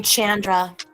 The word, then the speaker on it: Chandra: on the screen and you pronounce her name chandra like sandra i like that i